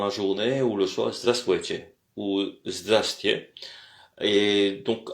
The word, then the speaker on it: здравствуйте: pour dire bonjour, c'est здравствуйте. Здравствуйте, здравствуйте. Alors, здравствуйте. Здравствуйте, c'est là où se situe l'accent, encore une fois. L'accent se porte sur la première partie. Donc, здравствуйте. Il y a 3 syllabes.